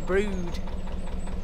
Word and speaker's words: Brewood: So after the next bridge we'll be in Brewood, and it's spelt B-R-E-W-O-O-D, Brewood, but you say it like Brood. Yeah, you don't mention the wood.